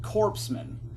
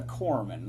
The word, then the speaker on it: corpsman: 57 states Gaff uh he can't pronounce the the word cor Corman he pronounced it corpsman at a speech he bungled that about three or four times he kept calling it corpsman and it's a Corman like a marine Corman so the idiot uh